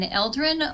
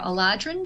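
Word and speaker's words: Eladrin: um I play an eldrin or aladrin depending on how you want to pronounce it um and I am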